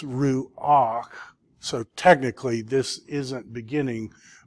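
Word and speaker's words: רוּחַ: to help you say, because it would be very hard to say ruk. So it's ruach.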